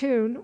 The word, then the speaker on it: Khatun: Her name was Khatun.[E] [Footnote E: Pronounced _Cah-toon_.] Khatun was not now at Samarcand.